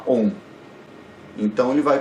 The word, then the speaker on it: Om: vai pronunciar a sílaba Om. Então ele vai pronunciar o Om, que foneticamente ele pode ser dividido em A, U, o nasalado M, né?